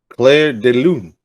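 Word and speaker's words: Clair de Lune: No, Claire de Lune. Did I say it right? Yeah. Yeah, you have to make sure like it's Claire de Lune. It's French.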